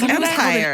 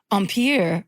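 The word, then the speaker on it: empire waist: I thought it was empire empire ampier. That's how I've heard fancy people pronounce it.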